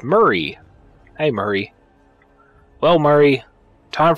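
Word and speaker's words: Mhairi: How the fuck are you even supposed to pronounce that name? It's Murray.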